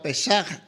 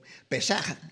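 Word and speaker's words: פסח: entonces la palabra Pascua pesaj tiene que raspar la garganta ahí para pronunciar bien el hebreo pesaj verdad eh significa e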